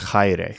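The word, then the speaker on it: χαῖρε: For example, the next word is chaire. Chaire. Here, the AI is no longer pronounced e, it's I.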